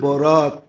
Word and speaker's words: বরাত: একটা হলো বরাত, একটা হলো বারাত। একটা হলো মুক্তি, একটা হলো চলন।